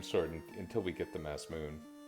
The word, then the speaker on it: Masamune: with the flame sword until we get the mass moon which i know it's called the masamune but it's also spelled badly enough that the pronunciation changes you know what a weird